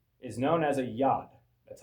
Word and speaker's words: yod: See, the Hebrew letter, the smallest Hebrew letter, is known as a yad. That's how you pronounce it. YOD, yad.